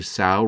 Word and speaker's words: Sau: As you do, rationally say Sau rhymes with Saw.